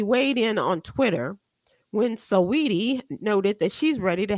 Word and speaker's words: Saweetie: Apparently, he weighed in on Twitter when Saweetie noted that she's ready to have children.